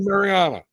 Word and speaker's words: Marijana: yeah it's it's silent the J is silent so Marana okay Mariana okay okay there we